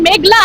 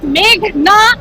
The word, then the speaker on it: মেঘনা: আদালতে এসে শুনি পিপি বলছেন মেঘলা আলম। আমার নাম মেঘনা আলম।